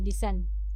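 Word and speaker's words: listened: एल आई एस टी ई एन ई डी लिसन यहां पे T silent किया गया है।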